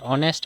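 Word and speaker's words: honest: আমরা অনেস্ট কইতাম না আমরা অনেস্ট অনেস্ট H silent অনেস্ট মানে সৎ ঠিক আছে সৎ বা ভদ্র ঠিক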